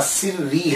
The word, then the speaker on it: سری: سر الدین ہے تو پھر ایک پروننسیشن اور مشہور پروننسیشن جو ہے، تلفظ جو ہے وہ ان کے نام کا سری ہے۔ سر الدین سری، سر